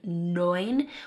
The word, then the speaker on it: neun: We have the 'eu' saying 'oy' in 'neun'.